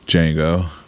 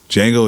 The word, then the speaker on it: Django: His idol, his hero, Django. Looking very Freeze. Yeah, you got him, buddy. The D is silent.